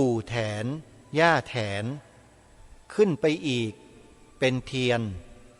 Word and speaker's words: แถน: นั้น มี ชื่อ ว่า แถน สระแอ ถ ถุง น หนู อ่าน ว่า แถน ชื่อ เต็ม ๆ ว่า